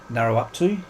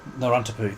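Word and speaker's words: Narawntapu: And I think it's pronounced Narrowuptu National Park. Narrontapu.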